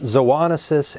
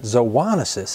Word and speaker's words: zoonosis: how you pronounce that now the words zoonosis and zoonotic have the same origin as some other words you may know such as and zodiac and Zoo now the root of